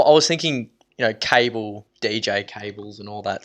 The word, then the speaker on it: Kabl: my D your name's cable right this was this was one of the points I thought that it was caval because it's spelled how